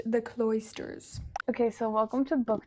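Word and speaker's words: The Cloisters: our cbook the AA book helped me is pronounced the cloysters okay so welcome to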